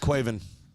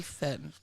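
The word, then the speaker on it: Caoimhín: Quaven. Quaven. That's how you say it in Irish.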